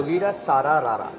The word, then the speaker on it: Jogira Sara Ra Ra: Jogira, Sara, Rara.